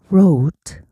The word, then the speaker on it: wrote: 여기서 W는 발음이 안 나요. 그래서 ro로 쓰시면 돼요.